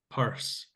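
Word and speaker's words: Peirce: Um, uh, Mark in the chat asks about Charles Sanders Purse. Uh, Pierce Purse, I think it's pronounced purse.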